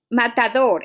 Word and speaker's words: matador: Matador, it doesn't end in S, N, or vowel. So the stress is in the last syllable, okay?